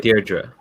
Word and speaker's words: Deirdre: So, sorry, how do I pronounce it again? Deirdre? Is that yeah, right? Deirdre.